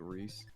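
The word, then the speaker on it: Wrys: One of my favorite things with people pronouncing things differently is they call Yabagoo, this humble curate W-R-Y-S, they just pronounce it Reese.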